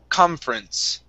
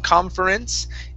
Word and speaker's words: conference: First up, we have the word conference. Okay, so instead of pronouncing this vowel here, saying conference, it's conference. So jump right over that vowel, conference.